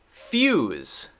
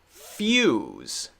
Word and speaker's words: fuse: makes the u sound this one makes the ya yeah sound a little bit of y there fuse fuse fuse fuse fuse we can break it up like this we could say it's similar to f e w plus z few z right this